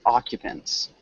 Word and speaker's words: occupants: It's more like occupants. Occupants. Occupants. Occupants. It's got like a U.